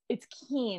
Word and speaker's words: Kiehn: It's Kiehn, actually. Kiehn, it's German.